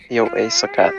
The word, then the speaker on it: Jó estét: Jó estét. That one's easy. Yeah. Jó Yo ace a cat. Cat. Yo ace a cat. Yeah. Yo ace a cat. Yeah. You said it right the last time.